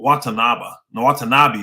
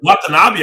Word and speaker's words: Watanabe: Well, Watanabe. What's his first name? Watanabe. Yeah, Watanabe. Brooklyn. I haven't heard him being linked to either one of them guys, honestly. I ain't hear that either. Watanabe, I heard, was linked to Phoenix.